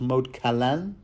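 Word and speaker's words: Moat Cailin: other developments and and mode k although someone assures me it's pronounced mod Kalan uh not to mention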